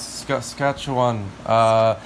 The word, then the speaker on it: Saskatchewan: I don't know how to pronounce that. Saskatchewan. Yes, Saskatchewan.